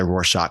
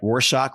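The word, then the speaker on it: Rorschach: assessment known as the warshock test as we now know it am I pronouncing it right warshock R Shack what do you think like shock sounds good sounds shock as in shocky yeah yeah he was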